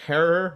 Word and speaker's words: Herer: other source You Know Jack Herer rhymes with terror's book and my times